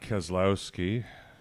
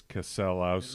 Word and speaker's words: Keselowski: And then Brad Keselowski came in number 2.